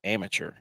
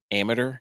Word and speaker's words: amateur: Is it amateur or amateur? It's amateur. Amateur. I mean, you're pronouncing the tour like the PGA Tour, but it's amateur. Isn't it? How's it spelled? AMA. TUR. No, that's caveman spelling. AMATEUR. Amateur. No. Like a saboteur.